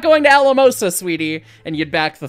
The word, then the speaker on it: Alamosa: So anyways, and it's 4 syllables, so Alamosa. 1, 2, 3, 4. Chuff, chuff, chuff, chuff. So, yeah.